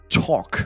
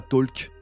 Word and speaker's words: talk: je prends le verbe talk parce que j'arrête pas de parler depuis tout à l'heure d'ailleurs le l se prononce pas on dira pas talk c'est le son je le mets